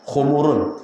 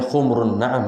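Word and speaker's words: حُمْرُ النَّعَم: Bacanya humr ya, bukan khumurun. Ka'annahum khumurum mustanfirah. Kalau humur itu keledai. Kalau khumrun onta merah.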